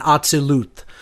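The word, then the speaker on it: Atziluth: Slightly off on the pronunciations, but I'm not going to, hold it to that, level of specificity. I would say if I were to give the correct pronunciations as closely as I know them to be, it's Asiyah, Yetzirah, Bria, and Atzilut.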